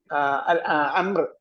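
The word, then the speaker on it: عمرو: ഉമറിനെ കണ്ടാൽ ഉമർ എന്ന് വായിക്കണം, അംറിനെ കണ്ടാൽ അംർ എന്ന് വായിക്കണം. അംറിന്റെ സ്പെല്ലിംഗ് എന്താണ്? അവസാനം ഒരു വായുണ്ട്. അവസാനം ഒരു വായുണ്ട്, ഉച്ചാരണമില്ലാത്ത വാ.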